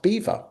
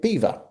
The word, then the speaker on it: Belvoir: know if you're aware, it's pronounced Beaver.